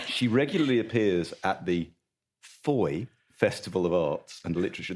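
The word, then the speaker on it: Fowey: refers to Manderlay and Fouy. No, I'm afraid so. It's foy to rhyme with joy.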